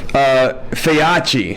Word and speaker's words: Feyachi: So tonight, we have, first of all, huge thanks that we like to throw out to this company, Feyachi is how you say it.